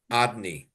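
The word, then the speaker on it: Adonai: The name Hashem Havaya is pronounced Adni.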